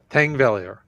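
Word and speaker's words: Þingvellir: pronounced Thangvellir.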